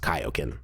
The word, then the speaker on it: Kaioken: know that it is actually supposed to be pronounced Kaioken so here we are oh oh oh there